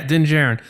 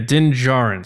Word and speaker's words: Din Djarin: And he's like, is it pronounced Din Djarin? And I'm like, yeah, Din Djarin. So I just watched it again. He says Din Djarin, so that's my fault. Oh yeah. Yeah, Din Djarin.